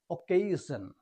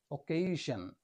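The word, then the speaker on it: occasion: হবে for example এখানে double C এর পরে এই রয়েছে হবে অকেশন অকেশন এখানে ডাবল সের উচ্চারণ ক এর মত দুটো সি কিন্তু ক এর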